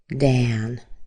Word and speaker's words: Dan: And similar to that is the name Dan, D-A-N. Okay, so often when you see an A spelling in a one-syllable name, the sound will be A as in cat.